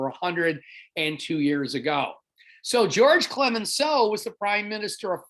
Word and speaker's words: Clemenceau: The second of our big four that you're going to need to know for your next assessment, his name is George Clemenceau. The S is silent.